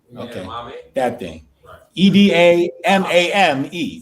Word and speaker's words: edamame: a demi something like that right enemy right edamame okay that thing e-d-a-m-a-m-e how do you pronounce that edamame okay right thank you for